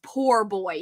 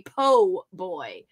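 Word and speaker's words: po' boy: was first said but no one ever says poor boy here they say Po Boy like that's how it's pronounced anyway there's a big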